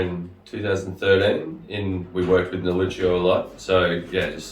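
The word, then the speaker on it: Nielluccio: Sanj, guys, how do you pronounce it? Neoluccio? Neoluccio. Neoluccio is the Corsican way of saying Sangiovese.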